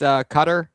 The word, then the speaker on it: Qatar: The 2 common English pronunciations are Qatar and Qatar. Those people. And you said it says highly common in British English and adopted by many English language international news broadcasts. The emphasis here is on the first syllable. That's Qatar.